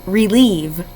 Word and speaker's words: relieve: Your word is relieve. Can you say that with me? Relieve. How many syllables does it have? Relieve. First syllable re, r, E. Second syllable leave, ol, E.